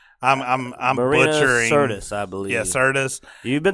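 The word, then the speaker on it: Sirtis: Serina Sarah Merrell I'm Richard Curtis I believe syrtis you've been saying it wrong all weekend but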